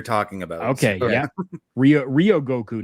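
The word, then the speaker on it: 両国: Ryogoku, not Rai.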